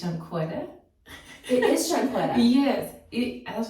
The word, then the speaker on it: Shunqetta: So it's pronounced Shunqetta. But there's no U.